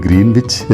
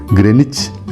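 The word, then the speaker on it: Greenwich: രേഖ എന്നൊക്കെ നമ്മൾ പഠിച്ചിട്ടില്ലേ നമ്മളിത് ഗ്രീൻവിച്ച് എന്ന് വായിക്കുമെങ്കിലും ഇതിൻറെ ശരിയായ ഉച്ചാരണം ഗ്രനിച്ച് എന്നാണ് കേട്ടോ ഗ്രനിച്ചിലൂടെ കടന്നുപോകുന്ന സീറോ ഡിഗ്രി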